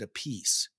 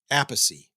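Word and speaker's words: Appice: Tim bogert and Carmine I think Carmine pronounces it a piece but his brother Vinnie pronounces it aathy I or maybe the other way around they they pronounce it differently they're brothers and it's kind of confusing me but this is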